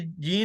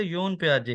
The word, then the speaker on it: Jean Piaget: तो ये जॉन पियाजे साहब जो हैं, ये जीन नहीं है, ये इंग्लिश में अगर इसको पढ़ें तो योन पियाजे है, ठीक है।